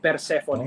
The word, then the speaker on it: Persephone: So it's like Persephone. Oh, I think that's okay. how they pronounce it because they're like a Andorran band, so kind of like Spanish guys making Cool.